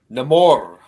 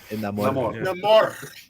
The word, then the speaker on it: Namor: Namor. Namor. It's not Namor. You gotta roll your R's.